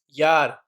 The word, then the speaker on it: Jahr: Year, that means yar. Year, that means yar. It's Jahr, but J pronunciation sounds like yah.